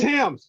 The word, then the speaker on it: Thames: Oh, it's Thames. Yeah, you don't pronounce the TH. It's Thames.